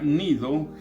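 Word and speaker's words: Gnido: Entonces, versículo 7, navegando muchos días despacio, llegando a duras penas frente a Nido, así se pronuncia Nido, G nido, porque nos impedía el viento, navegamos a Sotavento de Creta frente a Salmón.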